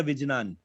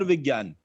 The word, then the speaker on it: विज्ञान: See, it is not to be pronounced as Ajnan ya Vijnan. It is Agyan or Vigyan.